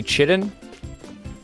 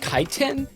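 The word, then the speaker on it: chitin: because I need sturdy chitten for my upgrade and I need I think 40 of it. So, I'm just going to go and start killing things. Turns out it's pronounced kiten.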